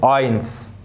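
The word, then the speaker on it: eins: طيب رقم 5، حرف الاي والاي الاتنين لما هيجوا مع بعض هنطق الحرف الاخير فيهم بالايه؟ بالانجليزي. اي، زي كلمة اينس، زواي، فغاي، دغاي، دغاي.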